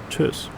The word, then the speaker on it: Tschüss: Tschüss. That's right. Hi and bye is tschüss. Tschüss. O umlaut is O and you say you. And U umlaut is you and say U. I mean E. Tschüss.